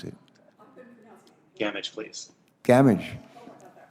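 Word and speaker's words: Gamage: does he pronounce it damage please damage like damage it rhymes with damage absolutely all right uh professor damage not damaged but thank you where are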